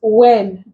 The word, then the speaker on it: when: In these three words, the W is silent, but here it is pronounced, and the H is silent.